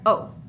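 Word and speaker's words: eau: Same thing for O, okay? Water, O. Here's how we spell it, E-A-U. We don't say le O, because if we did, we would have two E's together, okay?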